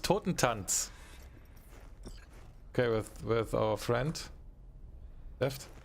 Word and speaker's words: Totentanz: How do they call that? Totentant? That's pronounced Totentanz.